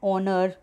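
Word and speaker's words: honour: Then ए silent H, अब जहाँ पे एच साइलेंट होता है, जैसे are starting with H बट एच is silent hair, तो हम यहाँ पे इसको एन आर बोलेंगे। एन ऑनर, एन आर्ली बस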